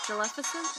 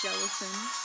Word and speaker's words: Jellicent: Jellificent? Is that how you say it? Jellicent. I don't remember. I think it's Jellicent. Leave it to me to forget Pokémon that I haven't seen in a second.